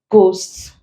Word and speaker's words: ghost: Then also after R and G, we do not pronounce it. Giving examples, rhyme, rhythm, rhinoceros, ghost, ghetto, ghastly, aghast. The is coming after the G and we do not pronounce them.